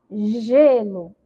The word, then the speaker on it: gelo: Na palavra gelo, a letra G tem som de quê? Vamos pronunciar, ó, gelo. Então, o gelo aí tem som de G, tá? Por que que isso aconteceu, pro? Porque a letra G tá junto da vogal E, tá bom?